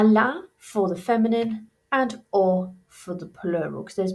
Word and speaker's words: aux: They both sound exactly the same despite the extra letter. Remember, we don't pronounce our X's, so or, and then à la.